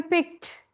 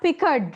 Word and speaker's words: picked: Peter Piper picked. Not picked. Not Pickard, right? Picked.